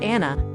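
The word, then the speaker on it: Għana: Don't miss the chance to hear traditional Gicana, pronounced Anna, a form of Maltese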